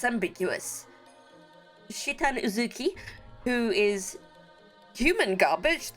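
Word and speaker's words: Citan: Fay leaves with the village doctor it's either saitan or shitan I'm going with shitan cuz that's how that's the Japanese pronunciation and I it's ambiguous shitan uzuki who is human garbage that is for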